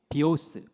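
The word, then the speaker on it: βίος: 번째이 생명이에요 이것도 생명인데 헬라어로는 이렇게 읽는다는 거예요 1번 같이 읽어볼게요 시작 비오스 스라고 읽어요 그건 무슨 생명을 얘기하냐면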